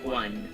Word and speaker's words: Juan: Grande Juan. I can speak Spanish. El Grande Juan. So, as we see Grande Juan. here. It is pronounced as an H.